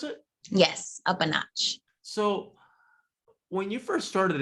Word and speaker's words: UPANOTCH: definitely so when it comes to is it up a notch is how you pronounce it yes up a notch so when you first started it did you